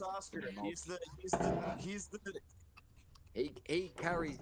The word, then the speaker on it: Ratatoskr: it's pronounced Ratatoskr.